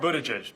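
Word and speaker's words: Buttigieg: Bend Indiana 'he's mayor i'm people to judge buddha jesh but around South Bend they just called me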